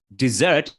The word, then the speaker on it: dessert: a lot of sand like the Sahara Desert dessert is actually what you eat like a pudding